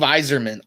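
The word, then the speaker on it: Yzerman: hardly drank it all it's zerman and there is another sound in front of that what else does the y make i don't know phonetically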